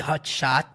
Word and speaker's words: hot shot: E aí o Harvey diz: "Ok, hot shot. Mais uma vez temos um T sutil cortado da pronúncia, porque ele não pronuncia hot shot, não tem T no final, ele fala hot.